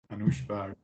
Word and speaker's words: Anoushbard: ANOUSHBARD, is that correct? ANOUSHBARD. Oh, it's a Persian word. It might Yeah. it might be really hard to pronounce in a correct way. So it's okay. ANOUSHBARD, it's a correct form.